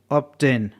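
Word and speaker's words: obtain: टी का combination है जहां पर बी साइलेंट नहीं है इसका बी का उच्चारण किया जा रहा ऐसे आपको बहुत सारे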